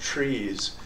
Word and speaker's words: TRIZ: to Innovation and it's the acronym is TR r i z uh pronounced trees and it stands for